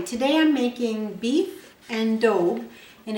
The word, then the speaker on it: daube: hi today I'm making beef and Dove and it's spelled D Au U be e and it's